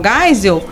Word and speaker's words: Geisel: general Geisel né os dois se temos General Geisa então assim não soube nem pronunciar o nome de um general importante na